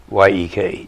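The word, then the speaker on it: Jech: It's pronounced, it's J-E-C-K, but it's pronounced Y-E-K, Yek.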